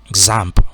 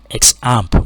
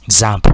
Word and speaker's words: XAMPP: you can install that example i believe it's pronounced example i know some people pronounce it x amp but i don't believe that's the pronunciation uh